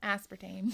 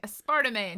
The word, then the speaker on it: aspartame: spartamay in it so aspartame that's like uh i said that it has a sparta we were playing a game and i didn't know how to pronounce it and i'm like a sparta man he's never let me